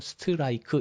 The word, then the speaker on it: strike: 우리말로는 스트라이크, 이렇게 5 음절로 생각을 하죠. 그런데 영어로는 스트라이크, 이게 5 음절이 아니고 1음절이에요.